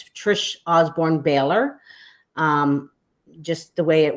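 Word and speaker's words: Boehler: And my last name is spelled not the way it sounds. Um, Osborne is my last name, but my maiden name is Balor, and it's, you know, B O E L E R. So, it's it's spelled differently than what it what how it how it's said differently and what how it's spelled.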